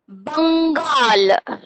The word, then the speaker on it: Bengal: Bengal. बंगाल के ऊपर अंग का साउंड है, that is अनुस्वार. Sound come from your nose. Give little bit of pressure that letter and pronounce Bengal.